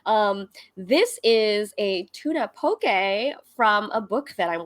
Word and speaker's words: poke: google some poke recipes it's spelled like poke p-o-k-e but it's poke um shannon have you